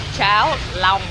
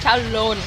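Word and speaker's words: cháo lòng: Чау лам, а не чау лон. А то ты сказал: «пися». Серьёзно?! Чао лон - это каша из писи. Чао лам! Вот в чём прикол. Самое-то главное, что надо ещё правильно говорить, вот Tilly сейчас объяснила. То есть, оно пишется-то “long”, как по английски «длинный». Поэтому будьте аккуратны, говорите всегда «чао лам».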